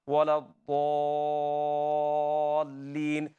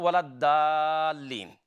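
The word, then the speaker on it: وَلَا الضَّالِّين: Dad is not dal. Well, it's not wala dalin. Okay, that's the common mistake. It's dal. When you're pronouncing dal, your tongue touches the front of your palate. Dal, dal, dal. Okay, like ta, dal. They are same makhraj. Dad is from side of your tongue.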